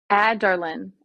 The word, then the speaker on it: Adarlan: Adarlan. Aderlin? Adarlan. Adarlin? Adarlin? Adarlin or Adarlan. Aderlin? It's AH-DAR-LEN. Adarlan.